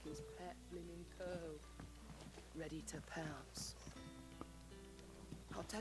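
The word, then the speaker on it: Coeurl: Curl. That's how you pronounce them. Okay. I don't think I've ever heard that being pronounced in any Final Fantasy game. I always called them co-urals.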